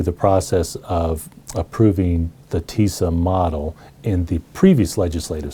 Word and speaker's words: TISA: We call it TISA, rhymes with Lisa.